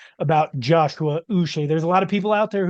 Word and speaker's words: Uche: He's come out in a press conference and he wants to be called his full name, Joshua, and then it's Uche is how he pronounced it Boucher.